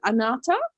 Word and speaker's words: Anahata: ana anata right how do you say it anata anata yeah anata and the color frequency of